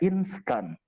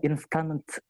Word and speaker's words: instan: Misal adik-adik mendengar kata instan, maka jangan coba-coba menambahkan T di belakangnya. INSTAN. Instan. Apakah kita membacanya instant? Tidak.